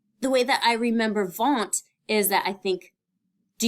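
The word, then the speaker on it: Wundt: all right and so the w sounds like a v um in the way that you pronounce it so won't now the way that I remember vaunt is that I think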